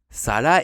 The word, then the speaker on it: 皿: On a donc le kanji de l'assiette en haut qui se prononce Sala en japonais et le kanji du sang en bas qui se prononce Chi.